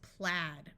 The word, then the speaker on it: plaid: long ey sound and this is plaid with a short a sound let's practice with some